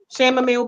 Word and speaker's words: chamomile: Chamomile bar. Chamomile. The Lotus. The H is silent. It's chamomile.